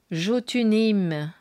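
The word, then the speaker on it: Jotunheim: Alors peut-être que la prononciation des royaumes, c'est Vaneim, Alphéim, Jotuneim. Voyez, ça me fait penser à ça. Svartalfeim, Nilfeim. Voilà, du coup, ça vous donne une idée de prononciation aussi.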